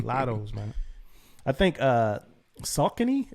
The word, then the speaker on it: Saucony: man i think uh saucony is how you pronounce some people say sakoni but i think salcony did it as well um